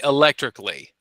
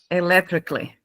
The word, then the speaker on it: electrically: You could just say electrically. electrically. Yeah. So, we don't we don't normally pronounce the A in the in the spelling.